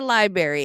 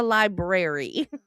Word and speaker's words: library: Just like library. It's not a library. It's a library.